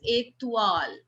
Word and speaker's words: étoile: How do we call OI? We call it ua, right? So here also it becomes étoile.